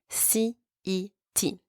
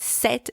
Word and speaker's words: cet: If the noun is also masculine singular, but starting with a vowel, then you're going to use C-E-T. And I'm going to pronounce it cet because there's a vowel following after.